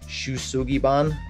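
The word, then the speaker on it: shou sugi ban: a Japanese technique that's, it's pronounced, or excuse me, it's spelled S-H-O-U-S-U-G-I-B-A-N, something like that. Shusugiban, I think.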